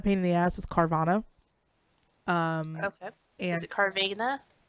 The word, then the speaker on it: Carvana: What's not a pain in the ass is Carvana. Okay. And Is it Carvana? I call it Carvana. Carvana on the plaza? Carvana? Vana would have to be like there'd be an I in it. Carvana, like A-N-A.